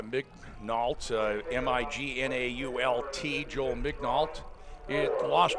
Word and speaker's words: Mignault: You pronounce the L. Mignault, M-I-G-N-A-U-L-T, Joel Mignault.